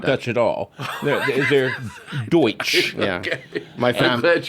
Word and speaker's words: Deutsch: We have this expression, Pennsylvania Dutch, that's actually meaning, it's Deutsch. Deutsch. Meaning German. Mispronounced as But we German. have... I never knew that. Yeah, they're not Dutch at all. They're Deutsch.